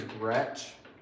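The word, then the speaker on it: Groetsch: That's spelled I A N. Got you. My last name is Gretsch.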